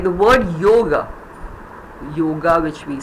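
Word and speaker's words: योग: Ga has got that inbuilt, no, the ga has the inbuilt chota, na, yoga, it's ending there. But in Sanskrit, we say yoga. That subtle is Sanskrit. The moment somebody says yoga, please know he's talking Sanskrit. Yoga. So that is the chote aki matra which is behind that. Yoga. English yoga, Hindi yoga, Sanskrit yoga.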